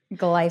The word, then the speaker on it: glyphosate: And now we have somebody here who's going to tell us all about, am I even saying it right? Glyphosate? Glyphosate.